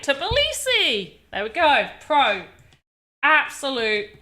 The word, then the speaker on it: Tbilisi: How to pronounce... Copy paste. Tbilisi. Tbilisi. Tbilisi! I was saying it right! Tbilisi!